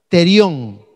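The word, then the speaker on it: θηρίον: es una palabra griega que se que se pronuncia terión terión therio nerion y significa cuando Busco el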